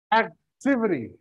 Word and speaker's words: activity: Activity. Activity. Activity. Jadi bukan activity, bukan activity, tapi activity. Perjedaannya, perekannya di act, lalu activity.